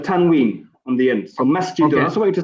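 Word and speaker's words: مسجدٌ: Okay, so masjid, how do we pronounce the end of masjid? We say masjidun. So alternate, ikhwan, word by word. Okay, go ahead. Who's first? Omar, go ahead. Okay. Masjid, masjidun.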